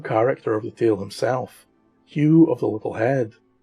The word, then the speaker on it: Ewen: of the tale himself Hugh of the little head although his name is spelled e-w-e-n it is not pronounced Yuan although some uins do